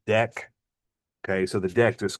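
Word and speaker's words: deque: It's pronounced deck.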